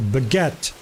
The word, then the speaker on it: baguette: Like in French for example, if there's a vowel at the end of the letter at the end of the word, do you pronounce a letter before it? For example, baguette. The reason why you pronounce the t because it has an e after the other t. Baguette. You know, if it didn't have an e and a t, it would be, right?